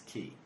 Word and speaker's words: Ki: it is Ki it's key for some reason the name of it so it's pronounced key because they're two yeah